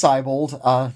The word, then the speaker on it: Seibold: It's Seibold. No one pronounces it correctly, so that's fine.